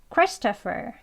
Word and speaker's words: Christopher: 크리스토퍼 여기에서 조금 길죠네 크스 하는 데서 강세를 넣으셔서 Christopher 조금 천천히 볼게요 christoph 두 번에 보겠습니다 Christopher Christopher 예 빨리 발음하게